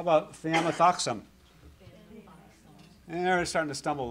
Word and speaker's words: thiamethoxam: How about thiamethoxam?